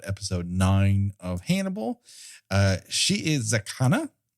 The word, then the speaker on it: Shiizakana: nine of Hannibal uh she is zakana uh there's two eyes there and so each should be pronounced as its own section that's the one thing